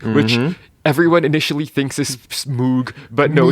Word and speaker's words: Moog: but it's spelled M O O G, which everyone initially thinks is Moog, but no, it's pronounced Moog with like a long O, I guess.